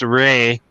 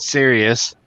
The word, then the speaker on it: Saray: Check his girls' channel out, which is pronounced Saray, not serious, by the way.